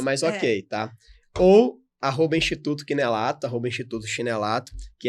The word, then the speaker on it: Chinellato: Eu falo chinelato porque é assim que se escreve, tá, gente? CHINELLATO. Certo? É Dr. Lucas Chinelato. Pode falar chinelato que tá tranquilo. É o que a gente chegou à conclusão que o chinelato não combina muito com ele.